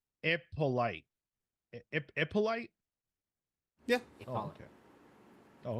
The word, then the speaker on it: Hippolyte: It's pronounced Ippolite.